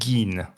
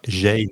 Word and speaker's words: Gein: Qui parlait notamment d'un tueur en série très connu, peut-être un des plus connus, qui s'appelle Ed Gein. Ou Ed Gein, ça s'écrit G-I-E-N.